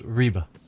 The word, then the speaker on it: Ribe: Also, it's pronounced Ribe.